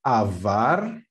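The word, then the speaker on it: עבר: And the pronunciation is avar.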